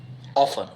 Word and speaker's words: often: हाँ, इसमें T silent होता है.